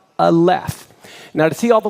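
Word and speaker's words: aleph: example you can hear when I say the letter all left you hear the and the F sound right so this is the letter A here is it as a word word phonetically sounded out a left now to see all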